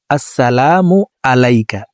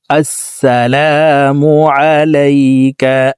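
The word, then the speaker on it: السلام عليك: তো দেখুন ওয়াততাইবা আততাহিয়াতুলিল্লাহি ওয়াস সালাওয়াতুবা আসসালামু আলাইকা আমরা অনেকে শব্দটিকে এভাবে পড়ে থাকি আসসালামু আলাইকা এভাবে পড়লে হবে না আইন হরফকে হকের মধ্যখান থেকে উচ্চারণ করতে হবে। আসসালামু আলাইকা আসসালামু আলাইকা আইয়ুহান নাবী আইয়ুহান নাবু ওয়া রাহমাতুল্লাহি।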